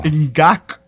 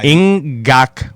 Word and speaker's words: Ngakoue: Ngakoue. Ngakoue. No, not like guac. Yeah. Ngakoue. Yeah, there you go. Ngakoue. Not guacamole, but Yeah.